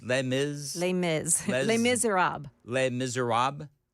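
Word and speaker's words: Les Misérables: How do you How do you say le miz le miz le miser rob le miser rob?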